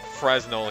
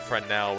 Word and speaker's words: Fresnel: What is it, Fresnel? Also, they pronounced it Fresnel here instead of Fresnel, which I think is the actual pronunciation.